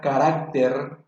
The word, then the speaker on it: carácter: En cambio, la palabra carácter lleva acento pintado en la sílaba arac. También tiene 3 sílabas.